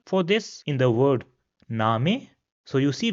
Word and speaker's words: Name: this in the word name. So you see we put extra emphasis on a at the end. So it will be name and not name as it is pronounced in English. Another example will be zofa.